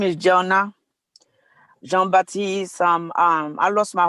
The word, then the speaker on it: Jonah Jean-Baptiste: not let me go to i think it's pronounced jonah john baptiste yes the floor is yours yeah my name is jonah jean-baptiste um um i lost my husband from kuvik